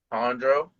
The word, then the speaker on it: Jandro: How do you pronounce it? Jandro.